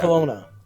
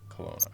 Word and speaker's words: Kelowna: Kelowna. Kelowna.